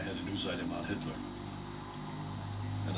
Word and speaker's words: Hitler: item on Hitler, and I mispronounced the name. I called him Hilter. And then I'd never forget the teacher, who was very good, Miss Baker, corrected me and said, "That's Hitler." That's Hitler, Ralph.